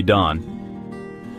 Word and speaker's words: Don: My name is Don on me, but you can call me Don. Rhymes with Ron, and I'll be narrating today.